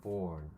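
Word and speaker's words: Bourne: 보온은 태어났다라는 말과 이제 발음이 똑같죠. born 이건데, 사실은 이거는 사람 이름이에요.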